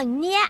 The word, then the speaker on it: เนีย: เป็น เนย สิ นะ ชื่อ ของ เนีย อ่าน ออก เสียง ว่า เนีย นะ นี่ ยิน ดี ที่ ได้